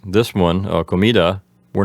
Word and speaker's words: comida: lot to talk about the word comida has the accent on the middle syllable and it's feminine besides